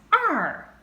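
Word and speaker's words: 二: now look at two two is pronounced as are a falling tone r is written with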